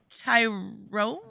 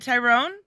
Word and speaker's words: Tyron: Hello, Tyrone. Oh, I should have the names up. I don't have the names up. What's good? Is it Tyrone? Tyron. Tyron. Okay.